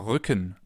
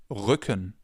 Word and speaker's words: Rücken: Or Rücken, back, Rücken.